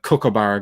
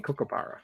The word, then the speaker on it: kookaburra: what's a kookaburra kokobaro americans have a problem with pronouncing kookaburra i don't know why bara burra say it slow kuka i got that